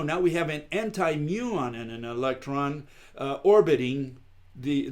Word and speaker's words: muon: we have the mute and i can't even pronounce its mew Anjum mew mew on right muon um-- and that's an exotic atom made up